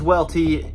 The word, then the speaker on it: Welty: My name is Welty. It rhymes with Brettski, but it's harder to read. The W thing throws people off.